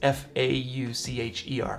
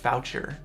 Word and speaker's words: Faucher: That's F-A-U-C-H-E-R, Foucher, but it's pronounced Faucher, William Faucher.